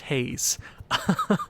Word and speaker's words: Hayes: if future owen remembers apparently i was pronouncing uh my franchise player key brian hayes is name wrong that is how you're supposed to pronounce it apparently if i'm wrong again i give up it's just haze but i upgraded brian